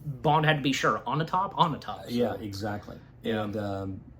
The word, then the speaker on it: Onatopp: And he beats Xenia Onatopp. Ultimately, beats her. His hand. Onatopp. That's how her name's pronounced. Even Bond had to be sure. Onatopp.